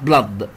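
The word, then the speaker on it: blood: بامبس دي يضخ، وبلد يعني دم، الاو هنا بنطقهم فتح، بلا بلا بلد، فهو بيضخ الدم.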